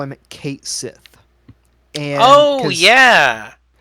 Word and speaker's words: Cait Sith: is based on the the Gaelic fairy cat is pronounced Kashi well and I don't